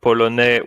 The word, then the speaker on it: polonais: Look at polonais with the boy, Pavel. Je m'appelle Pavel et je suis polonais. Suis. We don't say the S at the end, you see? Suis. Polonais. It's like it doesn't even exist, but we write it.